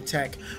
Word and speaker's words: TEC: I am Tech. Although some people call him TEC, but Tech is just simple. What do you guys call him? Tech or TEC? It's Tech, right? It's a simple one syllable word name.